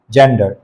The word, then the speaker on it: gender: এটাকে আবার গেন্ডার বলবেন না কেউ, গেন্ডার কিন্তু রাজহাঁস হয়ে যাবে। জেন্ডার, articles, and voice.